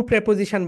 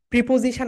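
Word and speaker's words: preposition: তো হুম এর আগে শুধু টু প্রেপোজিশন বসে না। প্রিপজিশন আমরা বলি। রাইট? এটার রাইট প্রনান্সিয়েশন হবে প্রেপোজিশন। প্রেপজিশন।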